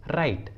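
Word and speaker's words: right: और एग्जाम्पल देखिए राइट, राइट, इस इंग्लिश वर्ड में भी जी और एच एक साथ आए हैं और दोनों ही वोवेल आई के बाद आए हैं तो जी और एच साइलेंट होगा, इसलिए सही उच्चारण होगा राइट, राइट।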